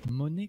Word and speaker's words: Monet: Monet comme l'argent? Bah, ça s'écrit pas comme ça, je crois que c'est ET à la fin, mais c'est un peintre reconnu.